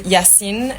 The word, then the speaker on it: Yassin: And yeah, and this is Yassin.